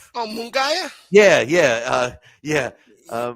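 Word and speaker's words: Munguía: And and I kept calling him Munguia and Jaime I would say Jaime and and Randy says, "Go ahead. Say it. You know the right way to say it." And I'm like, "I know how to say it now, you know."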